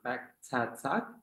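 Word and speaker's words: Pagtatag: as he prepares to join SB19 on their Back Tat tour finale, is that how I Yep.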